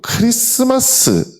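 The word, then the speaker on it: Christmas: 항상 골치가 봤던게 여러분 크리스트마스 아니잖아요 예 그 우리 맨날 크리스마스라고 하는데 스펠링을 이렇게 써보면 가운데 노란색 글자 저 뭐가 있죠 티가 들어 있습니다 그래서 왜 파은 안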